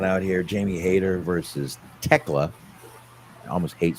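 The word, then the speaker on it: Thekla: Jamie Hater versus Techla. Almost hate saying her name like that, but okay. The H is silent.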